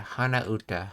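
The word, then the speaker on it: 鼻歌: That's that humming kanji again, which means it's pronounced. Oh yeah, hana uta, hana uta.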